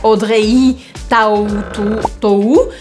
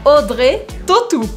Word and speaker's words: Audrey Tautou: Então a gente também faz uma matemática das letras aqui, faz várias delas sumirem, virarem outras e a gente não pronuncia Audrey Tautou, a gente fala Audrey Tautou.